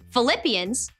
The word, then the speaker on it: Philippians: the interest of others Philippians sounds like the word flip so flip your hand